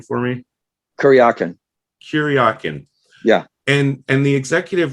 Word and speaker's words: Kuryakin: ilia character and could you go ahead and pronounce his last name for me kuryakyn kuryakin yeah and and the executive was saying like